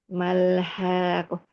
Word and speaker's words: الحاقة: Malhakoh. Haknya 6 harokat. Ya, betul. Kemudian ya 6 harokat. Kemudian koknya karena di situ bertasdid, jadi diberatkan Ustazah. Ya, dimasukkan ya ke qafnya ya.